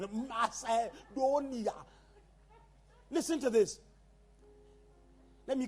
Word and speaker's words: Macedonia: At the Macedonia, you pronounce every vowel. Macedonia.